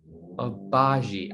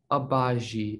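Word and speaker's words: Agbaji: a showtime guy ochai obazi i'm pretty sure it's a abaji i just looked up a video of this i think i should know how to say it's ochai obagi they have a they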